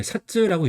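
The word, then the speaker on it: 札: 그래서 음독 같은 경우는 이제 사쯔라고 읽어요.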